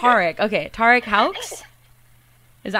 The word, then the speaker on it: Houx: Tarek Houx? Is that how you say the last name too, Houx? Yeah, Houx, yeah.